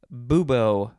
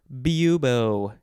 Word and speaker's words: bubo: you're talking about beans next we have bubo or bubo it is spelled b-u-b-o